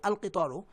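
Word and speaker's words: القطار: দেখুন সাইকুল কিতারি, এখানে আলিফ লামটা উচ্চারণ করছি, সাইকুল কিতারি, আল কিতারু, আল কিতারু কিন্তু আদ-দারাজাতু, আল কিতারু আর আদ-দারাজাতু, আদ-দারাজাতুতে এই আলিফ লামটা উচ্চারিত হচ্ছে না, লামটা উচ্চারিত হচ্ছে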